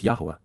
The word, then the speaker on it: Yahowah: e Barth the family oriented relationship agreement with yahwah yahwah the proper pronunciation of the name of eloa God has